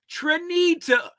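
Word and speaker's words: Trenita: Trend either Trinity the the correct pronunciation is you ready Tim trinita t-r-e-n-i-t-a Tre ni ta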